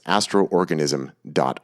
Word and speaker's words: Astrorganism: that o to indicate that you need to pronounce it twice but it's Astro organism.